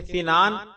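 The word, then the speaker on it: سِنان: جواب، واضح رہے کہ سنان کا اصل تلفظ سین سے سنان ہے، السنان سین کے زیر سے۔ اس کا معنی ہے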